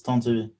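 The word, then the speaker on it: Tantivy: to pronounce that correctly is that called tent of v seems like that's on tv actually a lot of people want to pronounce it on tv but it's it's time to be yeah okay yeah sounds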